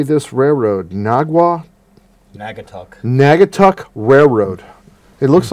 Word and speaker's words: Naugatuck: Naugatuck.